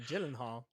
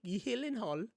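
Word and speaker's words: Gyllenhaal: Jake Gillen Hall right because it's not gyllen Hall it's healing Hall is it yes it's is Jake heing Hall we've been saying it wrong also we've been saying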